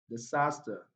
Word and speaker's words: disaster: Disaster, disaster. If you look at this particular word, the first syllable here contains a weak vowel sound, so it's not stressed.